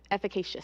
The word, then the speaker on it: efficacious: Not just efficient, Efficacious.